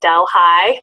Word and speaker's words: Delhi: He graduated from State University of New York at Delhi, pronounced Del High.